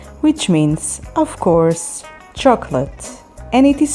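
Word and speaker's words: שוקולד: Chocolate, which means, of course, chocolate, and it is spelled with shin, vav, kuf, vav, lamed, daled.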